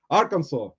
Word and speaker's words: Arkansas: Fireball flippers Amanda from Arkansas let's just uh pronounce Arkansas prior properly Arkansas I've been at Arkansas actually Little Rock at